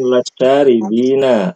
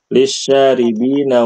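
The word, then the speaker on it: لِلشَّارِبِينَ: Wa wa anharun iyaribinawa itu bukan lasyaribina tapi lyaribina li bacanya lisyaribina wa anharumaribina wa anharum min asal musofa Nah, bagus artinya dibaca.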